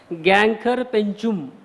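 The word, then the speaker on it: Gangkhar Puensum: Pronunciation भी देख लिया मैंने उसमें कैसा है. Gangkhar Penchum.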